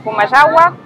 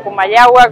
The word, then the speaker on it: Comayagua: Estamos en Comayagua, o Comayagua como deberíamos pronunciarlo, que fue fundada en